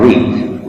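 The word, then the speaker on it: Reed: si ustedes conocen a un autor norteamericano John re re se escribe r e e d re John re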